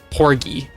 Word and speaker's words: Porgy: Yeah, hard G. Porgy, I think, because the fish is pronounced with a hard G.